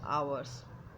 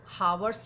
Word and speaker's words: hours: हैड योर brother been buying some books for आवर्स। Okay, एक चीज़ और आपसे कहना चाहूँगी, प्लीज़ इसे हावर्स नहीं पढ़िएगा, ये आवर्स ही पढ़ा जाता है।